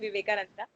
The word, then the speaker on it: Vivekananda: to use Paramahansa and Yogananda Okay, and Vivekananda. But okay. actually, you're right. It's Swami Vivekanand and not Yeah, Vivekananda. maybe It's there is silent, probably. yeah. I think in English you call it as Vivekananda, just like you say